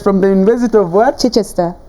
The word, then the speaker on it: Chichester: Chichester. Chichester.